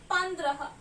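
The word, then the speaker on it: पंद्रह: And I am going to call it as Pandrah. Pa ko am ki matra pam, da ko ra ki matra dra, ha, Pandrah.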